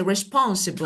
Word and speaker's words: responsible: First decide three responsible four and we say responsible. So of course it's right but it's four syllable word. Yeah. So this is four syllable but the second is stress.